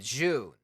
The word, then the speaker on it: Jun: Jun, but it's pronounced June. Jun. Yep. Yeah, it's Jun. June, okay. Jun. No, June. Jun. Not an O-O. Not an O-O sound. There's still an instead of an It's an It's the easiest way to tell somebody to say that name is just like say it like June, but like don't hold on to it for as Don't long. hold on to it. Yeah, don't hold on to June.